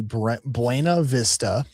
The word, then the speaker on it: Buena Vista: So, if I was to pronounce these towns, it would be Buena Vista.